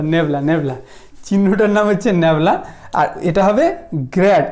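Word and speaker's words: nabla: বল আচ্ছা এর উচ্চারণটা কি হবে দেখো এর উচ্চারণটা হবে এটাকে কি বলা হবে বলব মানে চিহ্নটার নাম নেবলা গ্যাবলা না নেব নেবলা চিহ্নটার নাম হচ্ছে নেবলা আর এটা হবে গ্রড উচ্চারণটা হবে কি বল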